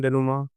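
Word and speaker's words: dénouement: चौथा है डेनुमा डेनुमा बहुत लोग इसको गलत पढ़ेंगे कि इसको पढ़ेंगे डेनुममेंट और पुष्प अलग-अलग लेकिन इसका सही प्रोनाउंसिएशन उत्तर है डेनुमा इसका मतलब होता है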